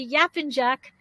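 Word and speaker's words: Yapıncak: be talking about if i say it correctly yap and jack on wifibed street right did i say it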